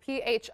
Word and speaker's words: pho: And it's spelled like pho. So if you go to a restaurant, it's P-H-O. Oh, yep. It's pho, though.